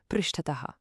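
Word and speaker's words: पृष्ठतः: And for behind, we've got prishtataha, pronounced prishtataha. For this one, imagine you always push an object from behind.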